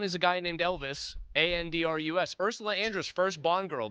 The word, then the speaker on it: Andrus: No, Andress. It's pronounced the same way. 2 different last names, though. They're not related. One is a guy named Elvis, Andrus.